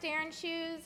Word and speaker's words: Shternshus: It's pronounced Shternshus, and people can just call me.